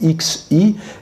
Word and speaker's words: Xi: Mais il faut bien voir que le pari du président chinois, l'actuel président chinois Xi, ça s'écrit X-I, eh bien ça se prononce Xi, le président Xi voit